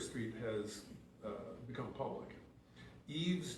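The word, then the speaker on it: Yves: Eve's Development, that's spelled Yvees, Development, has been in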